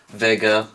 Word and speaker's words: Vega: This is the Sony Trinitron Vega. That's actually pronounced as a V, not a W because it's German.